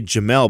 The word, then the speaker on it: Djamel: I heard her say Jamel, but I know he spells it DJAMEL. So DJAMEL. Maybe the D is silent.